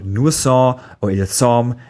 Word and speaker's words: sont: in suis, est, or sont, and you don't pronounce the final t in est, or sont.